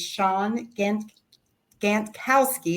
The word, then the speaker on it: Shawn Gantkowski: Your name is Shawn Gantkowski. I hope I'm pronouncing that right.